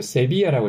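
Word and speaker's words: Sevilla: 제일 잘 알고 계신 세비야라고 있죠 한국에서는 세빌리아라고 아시는데 스페인에서는 세비야 L 두 개가 있으면 요거는 y처럼 생각하시면 됩니다 발음을 그래서 세비야라고 해주시면 되고 이탈리아 말이 이게 시빌리아예요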